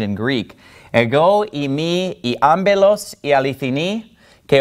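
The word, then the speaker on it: ἄμπελος: Ego imi I ambelos.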